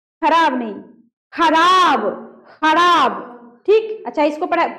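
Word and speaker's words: ख़राब: खराब।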